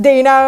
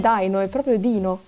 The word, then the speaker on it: Dino: Yes, Dino. IT'S HIM! IT'S DINO! D E E N O U. Now we can confirm that it's pronounced "Deeno" and not "Dai-no".